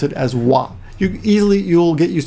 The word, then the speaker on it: は: sometimes but when it's a topic marker you pronounce it as wha you easily you'll get used to that quite